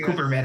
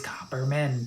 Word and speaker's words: Copperman: Yeah, you called me Cooperman again. It's okay. It's just me accent. You remember, I have this accent. It's Copper is hard. We say Cooper. Copper is fine. Copper. I don't care how you say it. It's Copperman.